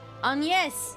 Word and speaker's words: Agnes: Agnes.